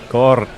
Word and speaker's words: Kaur: Kaur. Kaur. Noted. Yes. Must remember to roll those R's, I guess.